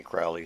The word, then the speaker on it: Crowley: name is holy or his name is crowley and it rhymes with holy and he said something of that nature himself those who wish to re treat me fowley call me crowley so early it is